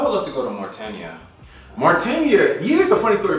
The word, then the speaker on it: Mauritania: The thing about it is that I always used to pronounce that wrong, and man, you don't even want to. I used to call it Mauritania. I used to call it Martiania, like something. And then when the first time the person told me how to pronounce Mauritania, I was like, this